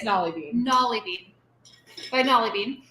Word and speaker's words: Nolly Bean: It's Nolly Bean.